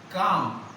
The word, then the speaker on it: calm: Now, circle the silent letters in the following words. First, calm. Not calm. L. Calm. Calm. So that's why you have to write this is the calm. Here is a silent letter.